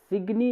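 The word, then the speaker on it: Szczęsny: सिग्नी बोलो, सिग्नी सिग्नी सिग स्पेलिंग हो बट सिग्नी सिग्नी सिग्नी वोजिएक सिग्नी।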